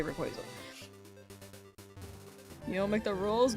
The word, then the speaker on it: Rayquaza: If you say Rayquaza, you might be a sociopath. I definitely don't say Rayquaza. I say Rayquaza.